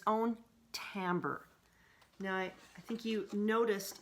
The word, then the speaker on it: timbre: you to know that this looks like timber but at we pronounce it Tambor and it's the own